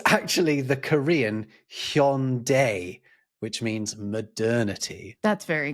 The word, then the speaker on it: Hyundai: brand of car where the tagline was Hyundai, like Sunday. Well, actually, they were patronizing you because it's actually the Korean Hyundai, which means modernity.